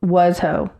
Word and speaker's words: Washoe: It's Washo. It's exactly what it looks like.